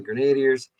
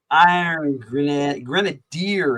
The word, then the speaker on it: Grenadier: Grenadier is how they say they pronounce it now. Now, growing up, I never pronounced it that way. I always pronounced it Iron Grenadier because it's based off the word grenade, right? So why would you don't say grenade? So why would you say grenadier?